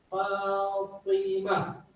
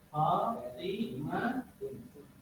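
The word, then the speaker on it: فاطمة: Fatimatun ini kalau kita wakafkan berhenti tun yang nggak dibaca, maka berubah menjadi suara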